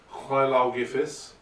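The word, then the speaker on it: Lleu Llaw Gyffes: Hlaugifis, to pronounce it correctly, but Lugh, as he's known by most people who don't speak Welsh, he is the eponymous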